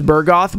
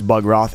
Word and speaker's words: Bugroth: I always call this Burgoth, but someone pointed out it's Bugroth, and I've changed my ways.